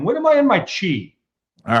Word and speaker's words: chi: It's not your chai, it is your chi, right? It's pronounced chi.